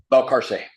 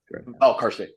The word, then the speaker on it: Valcarce: Do you say Valcarce? Valcarce. Valcarce. Oh, it was Spanish for Valcarcel, and my grandfather, for some reason, dropped the L. So Valcarce. Cell was original, but now it's Valcarce.